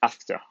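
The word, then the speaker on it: ∘: G after F so the round operator in the middle is pronounced after so first I call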